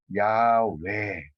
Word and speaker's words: 야훼: 연구를 했을 때 그래서 가장 가까운 발음이 야외 이런 발음으로 나올 거다라고 추정을 하고 있습니다. 그 옛날 성경에 보면 여호와라는 이름도 있고 야훼라는 이름도 있고 나오지만 가장 그 근사한 발음은 야외로 지금 알려지고 있는데 어쨌거나 루터는 이 야훼라는 이름을 미래형으로 번역했습니다.